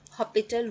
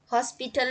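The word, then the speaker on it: L'Hôpital: एक बहुत famous method जो हम यूज करते हैं जनरली हमेशा वो है एल हॉपिटल रूल। हॉस्पिटल नहीं पढ़ते हैं इसको, ठीक है, ये हॉस्पिटल पढ़ते हैं, एस साइलेंट होता है, पर इन जनरल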